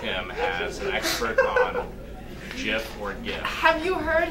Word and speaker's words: GIF: I knew it was pronounced Jif this whole time.